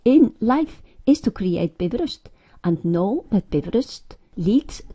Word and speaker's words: Bifröst: Pronounce Bifröst, accent on the first syllable.